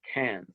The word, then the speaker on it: Cairns: It looks like it's spelled Cairns, but it's Cairns.